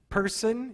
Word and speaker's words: Pearson: One thing you can pray for is Dr. Person. It's spelled like Pearson.